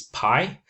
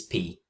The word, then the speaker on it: pi: In English, it's pi but in Greek, it's pi.